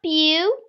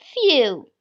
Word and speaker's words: phew: will be using is phew. So, the PH is pronounced as F, children. So it is not pew, it is few.